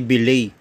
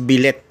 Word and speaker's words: billet: mismong housing Ito po ang tawag dito ay bay okay bay o Iyung tinatawag na pin na pronounce ng iba as billet Okay ito po ay bille na aluminum material